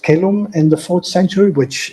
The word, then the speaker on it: caelum: But Migne prints the accent at the final syllable because he's a Frenchman. Yeah. And he would, of course, pronounce it kelum, right?